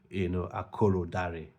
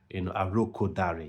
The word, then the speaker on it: Arokodare: Now, I know I've had in the comments people have been, trying to correct my pronunciation of Tolu, Akorodare, Arokodare. Yes, Arokodare. Tolu Arokodare. I'm sure this this pronunciation is the right one.